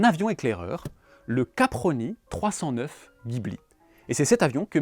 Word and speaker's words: Ghibli: Donc officiellement Jibli Gibli ou Jibili c'est d'origine italienne et donc ça devrait se prononcer adjibili avec les mains.